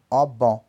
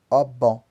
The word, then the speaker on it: obon: Então, 20 pronuncia-se ogum. 30 pronuncia-se obon, obon. Para falar o 40, como